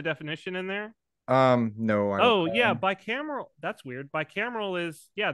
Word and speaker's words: bicameral: And the parallels between this idea and Julian Jayne's idea of the bicameral mentality. Father, are you familiar with this term? I know I'm butchering how to say it, but like B-I-C-A-M-E-A-R-L. Bicameral.